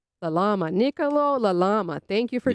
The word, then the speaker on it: Lalama: Your name is pronounced Nicolo. Yep. And how do you say your last name? Uh, La Lama. La Lama.